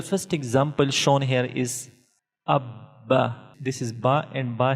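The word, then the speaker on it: أَبَّ: Hamza Ba Zabar Ab. Ba Zabar Ba. Abba. Abba. So we are pronouncing Ba two times due to Tashdeed, and we are pronouncing Ba strongly due to Tashdeed or Shad symbol.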